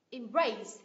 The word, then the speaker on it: embrace: là từ gì nhở embrace embrace động từ của hai âm tiết nh â tiết thứ hai embrace embrace đình chỉ